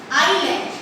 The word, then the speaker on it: island: Their names are first Andaman and Nicobar Island. Okay, इसका pronunciation क्या है? Island. S silent है. That is here S silent, so we pronounce only island.